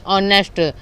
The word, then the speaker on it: honest: इसको हम इंग्लिश में पढ़ते हैं ऑनेस्ट, और इसका अगर हिरचे लगाएं तो HONEST होता है। तो इसको इसके अनुसार हम यहाँ पर एन लगाते हैं। क्यों? क्योंकि इसका हिंदी प्रोनाउंसिएशन होता है ऑनेस्ट।